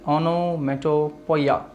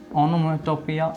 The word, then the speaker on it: onomatopoeia: Yes, pronounce it very well. Onomatopoeia.